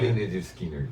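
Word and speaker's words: Lynyrd Skynyrd: Leonard Skinner, que você... Então, eu não trouxe nada do Leonard Skinner, porque, como o Victor fala, né, esse tá na coleção 2. Então, mas a pronúncia é essa mesmo.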